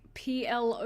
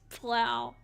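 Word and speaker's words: plough: I'm thinking of like p l o u g h which is also not pronounced PLO but pronounced plow but I'm pretty sure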